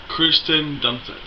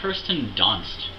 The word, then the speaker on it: Kirsten Dunst: toby alfred marlena yeah kristen dunphy it's kirsten dunst learn to pronounce words i thought kirsten dunst